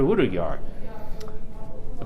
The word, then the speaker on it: Hudayar: And I'm here today with East Turkistan Prime Minister in Exile, Prime Minister Hudayar. Pronounce that right?